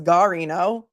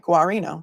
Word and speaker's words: Guarino: I know I say Guarino. Somebody told me no, it's Garino. Thank you. So you're saying I'm right. Guarino. Thank you.